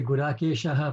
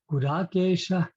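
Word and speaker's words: Guḍākeśa: the double sound, but the correct pronunciation of that line would be Gurakesha, so shah like ha, Gurakesha parantapaha, like that.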